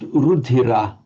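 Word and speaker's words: रुधिर: So although the word rudhira, the final syllable ah, would be light on its own, the next word begins with a consonant cluster, a pra. That makes now the whole syllable as if it's a rup, rup. So it makes it heavy.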